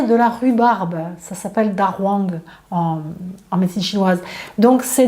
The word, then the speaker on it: dahuang: Ça s'appelle dahuang. Donc en chinois, le H se dit R. Et dahuang, ça s'écrit D-A, plus loin H-U-A-N-G. Donc dahuang, vous pouvez le trouver